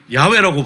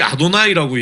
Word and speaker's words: YHWH: 그러면 이거를 야훼라고 발음하든지 여호와라고 발음하면 그 방에 있는 모든 사람이 저를 째려봐요. 그건 그렇게 읽게 돼 있는 게 아니에요. 예. 그렇게 읽으면 안 되는 이름이에요. 그게 발음하면 안 되는 이름이야. 실제 발음도 네. 어떻게 하는지 모르고. 네. 그래서 그때는 반드시 아도나이라고 얘기를 하고 예.